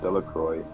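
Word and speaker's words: Delacroix: Harry Jones and Dicky delro the villagers pronounced his name de Croy eventually made a great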